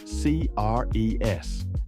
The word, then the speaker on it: Cres: It spells C-R-E-S, and it's pronounced Cres in Serbian, and it's one of the largest islands in the northern Adriatic.